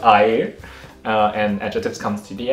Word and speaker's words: air: spelled like air so it's a-i-r but it's pronounced i uh and adjectives comes to the end so follow